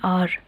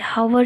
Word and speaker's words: hour: अब यहाँ देखो, हम आर को HOUR है, लेकिन हम उसको प्रोनाउंस कैसे करते हैं? आर बोलते, हावर नहीं बोलते, एच को हम नहीं लाते, ठीक है।